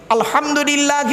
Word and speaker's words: আলহামদুলিল্লাহ: বেরচ্ছে দেখুন নামাজ পড়তে গিয়ে আমরা কি বলি আলহামদুলিল্লাহি রাব্বিল আলামিন আলহামদু হাটি হাবজ নয় আলহামদুলিল্লাহি রাব্বিল আলামিন আলহামদুলিল্লাহ গলার ভেতর থেকে হটা উচ্চারণ করবেন দয়া করে আলহামদুলিল্লাহ এর মানে হচ্ছে